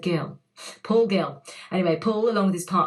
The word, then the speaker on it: Guille: Now, he did tell me how to pronounce his surname, and we agreed on a pronunciation, like there was a debate about it, and I think he said Gill.